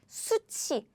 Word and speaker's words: 숱이: And now you know how to pronounce this word correctly, right? It's 숱이.